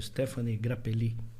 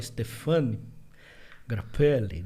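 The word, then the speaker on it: Stéphane Grappelli: famoso pelo violinista lendário stepan grappelli que fala stepan grappelli não é tanto faz ele era filho de italiano e nasceu na França então tem as duas pronúncias então ele com o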